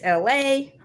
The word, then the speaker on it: Elay: My name is Elay, pronounced like LA like the city.